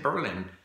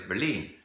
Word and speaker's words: Berlin: And I said, why would you say Berlin? In German, it's Berlin. So the accent is on the second syllable. So in English, it's just Berlin.